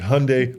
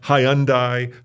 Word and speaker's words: Hyundai: how you pronounced it he said Hyundai like Sunday well they did a